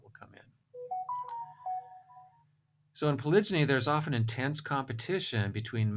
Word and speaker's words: polygyny: then the mating system polygyny tends to result. That's the way I pronounce it, and most people I know pronounce it, although I guess some people pronounce it polygyny.